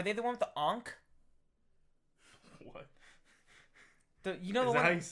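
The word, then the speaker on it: ankh: Ank. It's an enk.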